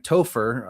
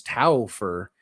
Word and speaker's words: Topher: For whatever reason, Sunno was pronouncing my name as Tower.